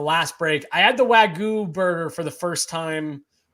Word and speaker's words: Wagyu: Wagyu.